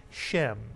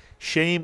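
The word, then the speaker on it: שם: A sound, or sometimes the tsere is pronounced very much like a segol, e, and some people would say shem. Either way is correct. Shame or shem means name. The English rhymes with the Hebrew, shame and name.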